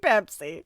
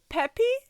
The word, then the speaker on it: Pepi: I keep reading it in my head as King Pepsi. But it's spelled P-E-P-I. But my brain wants to put an S in there. P-P is what I hear. King Pepsi. I think both are wrong. King Peppy? Sure.